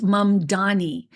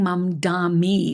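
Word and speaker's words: Mamdani: It's Momdani. I keep saying Momdami with a m i at the end instead of n i.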